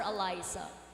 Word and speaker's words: Alisa: Is it pronounced Alisa or Alisa?